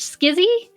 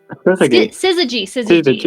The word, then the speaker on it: syzygy: Oh my gosh, Skizzy? Syzygy is how you say that.